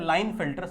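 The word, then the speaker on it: Klinefelter: के को मत पढ़ना के यहां प साइलेंट होता है इसको हम लोग पढ़ते हैं लाइन फिल्टर सिंड्रोम समझ में आई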